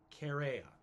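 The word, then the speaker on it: Chaerea: man named cassius herrera i want to pronounce it right c-h-a-e-r-e-a carrera that's it cassius correa uh he's a tribune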